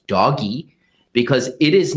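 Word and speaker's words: DOGE: This is a bizarre defund the Wall Street police gambit by Elon Musk and the so-called Department of Government Efficiency, which I pronounce as doggy, because it is not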